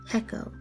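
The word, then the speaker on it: Pekoe: a puzzling grading expression Echo the term which rhymes with Gekko not Rico comes from the Chinese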